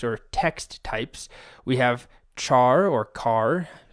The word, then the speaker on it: char: text types we have char or car I guess you should pronounce it car because it's character but I've always said Char even if that's incorrect